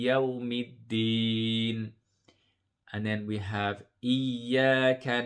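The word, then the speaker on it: إِيَّاكَ: Remember the shadda, the first sound will be sukun and the second sound will be the one with the vowel. So iya, iya, and you hold the first sound and then you join it with the second.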